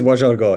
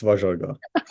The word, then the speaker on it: Vajargah: Don't worry, it's Vajargah. It's Vajargah.